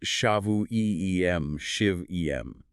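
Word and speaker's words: שבעים שבעים: The Hebrew phrase is shavuim shib'em, pronounced shavu-e-em, shiv-em.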